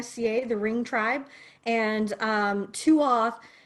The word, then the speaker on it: tuath: And Tuath is pronounced Tua, and it means tribe or family, which she wanted me to pass on as well.